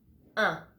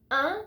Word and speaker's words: un: The first one we're gonna see together is un. For example, matin. Un is exactly the same sound as 1, 2, 3, 4.